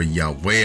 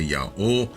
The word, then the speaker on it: Yahweh: What we know for certain is that Yah or Yahweh or Yave or however you want to pronounce it, of course we say Yao, uh was not newly